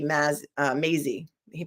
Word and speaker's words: Maisy: 2023 before The Honorable Timothy P ma uh Maisy he pronounces that Maisy I would say Mazy they say maing that's how they say it